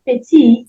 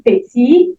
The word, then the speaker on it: petit: Then the last one, petit, won't also sound because we have a consonant at the end of it.